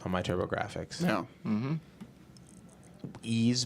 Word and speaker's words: Ys: Ease Book 1 and 2, I believe is how it's pronounced.